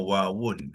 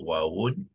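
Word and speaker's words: واو: Ya, kita tuliskan waw ialah asal waw ni ialah wawun. Itu ejaan yang sebenar, ya. Tetapi biasanya kita tak perlu sebut wawun, kita waqafkan dia menjadi waw. Waw.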